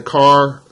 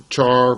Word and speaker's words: char: So I mentioned some of the SQL Server data types: bit, character, var, and you'll hear some people say car, character, char, varchar, different pronunciations, whatever.